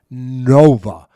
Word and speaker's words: Nova: Ford Nova, as in Super Nova.